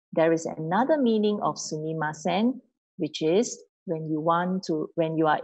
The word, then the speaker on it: sumimasen: Sumimasen. Okay. Five syllable. Sumimasen. Say quickly. It becomes sumimasen.